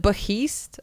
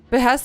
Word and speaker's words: behest: Is it beheist? I thought it was beest. Uh oh. I guess it's on beh. You're right. On behast mission. We're just going to I said it right. Behest is right.